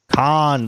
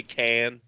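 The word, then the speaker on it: Cannes: of that is that is it khan how do you pronounce that um con like star trek like okay come on you didn't give me any q-tips some people say can but it's like oh can film festivals oh okay i've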